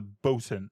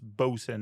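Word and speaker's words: boatswain: Basically, they're talking to the Bosen. So, it's spelled boats Wayne, but it's Bosen is the way we pronounce that now.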